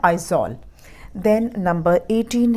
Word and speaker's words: Aizawl: मिज़ोरम में भी Z आता है, उसके कैपिटल की स्पेलिंग में भी Z आता है। मिज़ोरम का कैपिटल है आइजॉल।